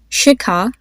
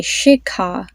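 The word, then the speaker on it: Shikha: air coming out so I'll give you the name shika try to pronounce that with me putting your hand in front of your face say shika then another name is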